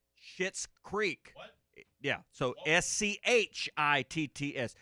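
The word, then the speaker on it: Schitt's: okay but i've been watching the show and it's spelled s-c-h-i-t-t-s it's shit's creek yeah so s-c-h-i-t-t-s it's it's the name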